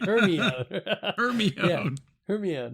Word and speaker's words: Hermione: And I'm not one to say like, oh, I didn't like that because I thought Hermione had blonde hair instead. I thought it was pronounced Hermione. Right. Right. Hermione.